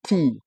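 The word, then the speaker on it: quay: This word spelled as Q U A Y is pronounced as key.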